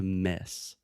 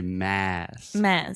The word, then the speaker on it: mass: went to miss so you want to say mass mass so you really will feel air expelling from your mouth right so it's almost like your mouth makes it square and you say ah say it with me